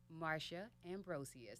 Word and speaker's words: Marsha Ambrosius: thank you for your time ladies and gentlemen Mara Ambrosius that's how you pronounce her name Americans we've been screwing it